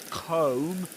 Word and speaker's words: comb: So comb comb in comb the B is silent too comb comb and this one is climb climb.